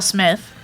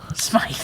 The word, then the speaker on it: Smith: Carl Winslow I Will Smith will SMI SMI it's pronounced SMI I don't know why everyone calls him Smith all the time he